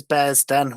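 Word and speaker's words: Bearsden: Is it Bear's Den? Am I saying it right? Yeah, I'm sure it's Bear's Den was called.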